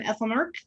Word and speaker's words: Aethelmearc: And tonight I have Duke Malcolm from Aethelmearc. I think I pronounced Aethelmearc right. Yeah, Hopefully. you got it.